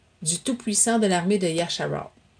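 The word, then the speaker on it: ישראל: Du Tout-Puissant de l'armée de Yasharal. On l'a retraduit Israël, mais en hébreu, Israël, c'est Yasharal. Je ne sais pas comment le prononcer, là. C'est Yad, Shin, Ra, Ayin, Rash, Alap, Laf, Lamad, excusez, Yasharal, que tu as insulté.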